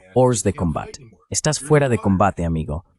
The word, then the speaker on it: hors de combat: en el agua, están hors de combat. Esa es la pronunciación francesa de lo que a los marines nos gusta decir, hors de combat.